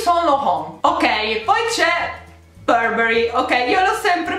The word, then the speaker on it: Burberry: Andiamo a vedere, ok, più o meno ero sulla linea d'onda corretta, si pronuncia Burberry, quindi no Burberry, quindi la R no, Burberry, quindi Burberry no,